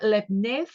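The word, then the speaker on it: Leibniz: we'll be looking at lebner as I like to pronounce his name and share the name with those really nice biscuits you can get you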